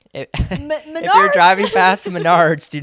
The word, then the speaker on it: Menards: get it confused with what I learned is pronounced as Menards yes the uh it's like Home Depot basically